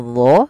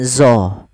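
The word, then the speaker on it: ظ: Nah, hati-hati dalam pelafalan dho, jangan dibaca dengan zo. Jangan dibaca dengan zo. Karena dia bukan zo. Kalau zo nanti makhrajnya salah.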